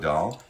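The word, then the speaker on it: Dahl: That's a cool name, Kyoko Doll. Doll like Roald Doll, spelled the same way as the author.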